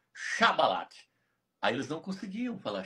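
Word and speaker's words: שיבולת: Passou a falar sá de tanto ficar no meio deles e não conseguia mais falar chá. Xabalate.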